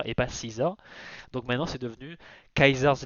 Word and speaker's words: Caesar: faux quoi, parce que si tu lis vraiment le C, le A, le E, le S, le A et le R, ça peut faire Kaiser et pas Caesar.